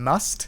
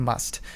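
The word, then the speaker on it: musth: Maybe I'm alone when it comes to that, but they do this thing called going on must. And must is spelled M-U-S-T-H.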